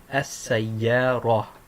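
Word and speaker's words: السيارة: And when you're reading it, if you stop on it, you pronounce it as if it's a ha. You don't pronounce it as if it's a ta. You only pronounce it as if it's a ta if you continue. So here, this word here means car, and it's read as as-sayyara. As-sayyara. Right? That soft ha on the end, even though it's a ta.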